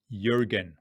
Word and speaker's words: Jürgen: In case you're wondering, whilst Jürgen is spelt with a J as the first letter, the pronunciation is Jürgen.